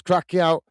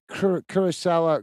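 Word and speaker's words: Curaçao: Curacao, Curacao, if we can pronounce it, but apparently it's pronounced Curacao.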